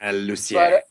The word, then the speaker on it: Lucier: Lucier.